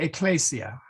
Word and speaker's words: ecclesia: in English, ecclesiastical, the S becomes a Z, like as in lose, okay? But in Latin, we shouldn't do that. We should, so it's not, so ecclesiastica, try not to say ecclesiastica. I think everybody will be portrayed at one time or another by sticking a Z in there in that place, but try not to. So J, So we okay. don't say ecclesia. We should say ecclesia.